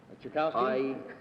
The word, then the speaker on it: Tchaikovsky: How would you pronounce the name T-C-H-A... Tchaikovsky? Yes. Thank you.